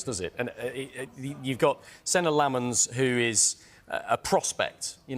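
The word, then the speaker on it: Senne Lammens: United opted to sign Senna Lomans instead. That is how you say it. We've checked it.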